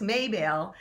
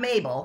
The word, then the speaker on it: Maybelle: Anarchy, and I guess Maybelle, not Mabel, I was saying it wrong, Maybelle was so fat and so pregnant with I don't know how many goats.